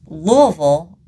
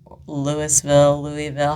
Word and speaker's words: Louisville: The FBI, absolutely, they came to Shepherdsville, which honestly, not that far of a drive, because Louisville, Louisville, however you want to pronounce it. I've lived in Louisville for a long time.